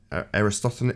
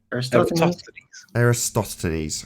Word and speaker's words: Eratosthenes: And that's where you get Aristophanes. How do you say his name? Eratosthenes.